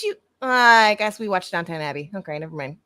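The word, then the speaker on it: Downton: did you just say Downtown Abby is that what it's called downtown not downtown downtown it's downtown when you spell it out it says down toown this is like the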